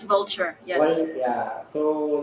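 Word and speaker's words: Vultr: I don't know if everyone pronounces it like vulture but v what do you oh yeah okay that's vulture yes yeah so like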